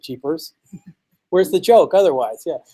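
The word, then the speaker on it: GPars: with Jeepers and yeah I pronounce it Jeepers where's the joke otherwise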